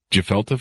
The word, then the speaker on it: gefilte: Is that pronounced right? The gefilte fish?